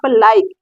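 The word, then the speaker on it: like: last में ई है ई का उच्चारण नहीं हो रहा है एक हिसाब से आप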